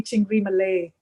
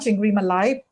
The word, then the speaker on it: Chingri Malai: And it was actually Chingri Malay Oh. and not Chingri Malai, but Indians started calling it Malai because that's how they pronounce things phonetically.